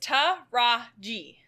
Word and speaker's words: Taraji: of the movie, sorry, but her name Okay, Taraji. Henson. How do you spell it? T A R A J I. And I looked up the pronunciation and it says Tra G.